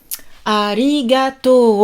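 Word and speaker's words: ありがとう: alors vous me connaissez prononciation très important arigato on allonge le haut à les gâteaux et pas arigato ali gâteau donc allez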